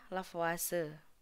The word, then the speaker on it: Lavoisier: itu yang pertama ada lavase yang ditulisnya lavoisier dibacanya lavase Nahla Fase ini menyusun